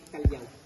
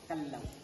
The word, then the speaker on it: Callao: Some tourists, they pronounce it Callao. Callao is Spanish word, a peaceful and quiet village po siya. Second one, we have a Calao. Calao is a kind of bird, or the rufous hornbill of Calao. And then yung proper pronunciation, much better to pronounce it Calao. Yes, not Kalaw, not Kalaw, it's Kalaw po siya.